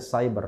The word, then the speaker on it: siber: Tulisannya siber sudah ya, bacanya cyber, lucu juga.